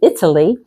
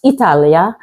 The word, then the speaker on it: Italia: say her because it Italy uh actually pronounced Italia anything ending in a